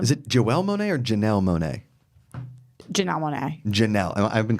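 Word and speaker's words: Janelle Monáe: God dang it now that you're saying it over and over again Janelle Monet you're sure it's got to be Janelle Monae right yeah we just know somebody named Jo Joel and I've been saying it wrong we know what Jo Janelle we know Jo Janelle mon you been saying Janelle I have been you sure okay Janelle Monae my bad well if you haven't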